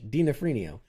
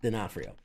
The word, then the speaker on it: D'Onofrio: Dinafrenio. It's like an Italian dish. Dinafrenio. No, it's D'Onofrio.